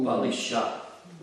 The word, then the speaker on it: balisha: He uses the word balusha, which means fools. Fool. Balisha.